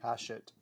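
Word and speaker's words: Hachette: um uh haset I never know how to pronounce them I I believe Kevin is corrected me haset haset yes um uh which has been the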